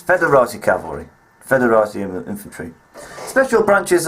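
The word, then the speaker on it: foederati: in the interim period the O is silent that's federa cavalry federa infantry special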